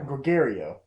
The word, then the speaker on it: Gregorio: Gregorio. It's just think the word gregarious.